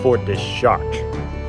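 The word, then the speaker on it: Fort de Chartres: a caretaker here, and my pronunciation was way off, and I'm still probably getting it wrong, but it's closer to Fort De Chatres. Although he also said that there's really no wrong pronunciation. It's been sort of anglicized over the years.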